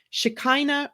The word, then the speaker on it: Shekinah: I have for today Shekinah rhymes with Dinah an excellent feminine mantra